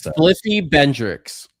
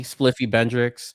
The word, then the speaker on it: Spliffy Bendrix: So, it's Spliffy Bendrix. Like Hendrix with the B, Spliffy Bendrix.